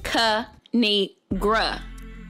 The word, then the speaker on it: Kinigra: a thing of three it's pronounced cu ni gra now subscribe oh i